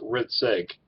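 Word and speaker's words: Hrcik: Riddick it's a my last name is h RI c ik but it's pronounced rit sake so in a late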